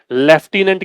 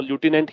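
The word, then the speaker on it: Lieutenant: लेफ्टिनेंट की spelling है, इसको तभी सही कर पाओगे जब तुम इसको ल्यूटिनेंट पढ़ोगे, जो कि अमेरिकन इंग्लिश में इसका स्पेलिंग जो प्रोनाउंसिएशन है वो ल्यूटिनेंट ही है।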